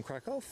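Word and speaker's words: Kraków: So there's the inbound Ryan Air from Crackoff. He's not in the place where it's camper. All right. Oops. That's all right, Linda. I just had to figure out how you pronounce it. That's crack off.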